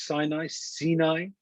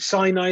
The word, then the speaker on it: Sinai: Because the Torah was given at Mount Sinai, and the Gemara says that when you pronounce Sinai, it sounds the same as sinah, hatred.